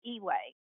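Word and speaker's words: EUA: an emergency use authorization that's pronounced e-way and what it did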